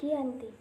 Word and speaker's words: Giyanti: lokasi penandatanganan perjanjian yakni di desa Janti dalam pelafalan Belanda ia tersebut sebagai Giyanti dan secara tertulis dia terbaca